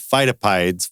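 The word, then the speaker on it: Pheidippides: were based on the run of phytopides. I think I'm saying that correct now. I was definitely saying it wrong last week.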